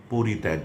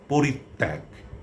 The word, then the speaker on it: পরিত্যাগ: এটির উচ্চারণ কোন অবস্থাতেই পরিত্যাগ নয়। এটি হচ্ছে পরিত্যাগ।